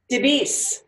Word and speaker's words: DeBease: the amazing duh de beasts beasts it's just like it's spelled but I'm not great